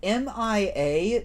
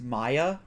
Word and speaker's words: Mia: See, M-I-A, to a lot of people, for some reason, they think it's pronounced Maya.